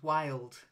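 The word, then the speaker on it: wildcat: approach that's it then wild cats not willed wild wild cat wild cut of course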